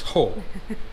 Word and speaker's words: Hoh: a Rachel Ranger Rachel first I need to know how to pronounce the river hole okay I've been calling it hack its hole okay and views of